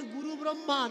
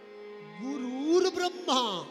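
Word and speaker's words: গুরুর্ব্রহ্মা: অনেকে বলেন গুরু ব্রহ্মা। না ভাই ব্রহ্মা কখনো গুরু নয়। ব্রহ্মা গুরু। ব্রহ্মা কাকে দীক্ষা দিয়েছেন যে ব্রহ্মা গুরু। গুরুর ব্রহ্মা। গুরু ব্রহ্মা নয়। গুরুর ব্রহ্মা। আগে সঠিক উচ্চারণটা জানতে হবে।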